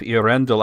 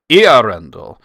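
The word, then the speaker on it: Eärendil: And the reason is the 2 dots on the A are just telling you that the E and the A are their own syllables.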